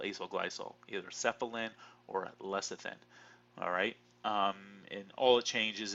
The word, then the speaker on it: lecithin: we seeing here is lecithin alright or less of ten I know people have called it less of ten or less of thin it doesn't really matter how you pronounce it but Cephalon has hydrogen's